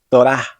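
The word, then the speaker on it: תורה: Por ejemplo, en la palabra Torah, que significa ley, la letra Hei realmente no tiene ningún sonido, pero ayuda a marcar la vocal A, que en este caso es larga y acentuada. Torah.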